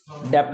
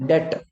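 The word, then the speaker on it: debt: डेप्ट ना बोलना, D silent है, डेट।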